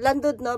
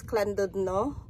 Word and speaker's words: Llandudno: ah ang plan namin Today is just go to land No but it pronounce as clud no I've been told ah